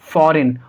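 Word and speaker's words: foreign: Words के अंदर हम जी को नहीं पढ़ेंगे, जी का साउंड नहीं आएगा। जैसे फॉरेन, और इसको हम क्या पढ़ेंगे?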